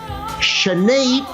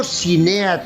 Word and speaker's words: Sinéad: I have to say the name correctly, it's pronounced "Shenade", no "Sinead", not "Sinet", not "Sinit".